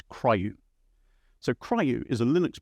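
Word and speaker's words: CRIU: So Linux has this thing called coordinated resume in user space, and it's some people try to pronounce it as CRYU.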